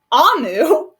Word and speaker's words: Amu: Amu, pronounced Amu, is the Igbo term for queen.